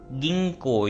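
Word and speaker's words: 銀行: गिंको यहां पे long sound आ रही है।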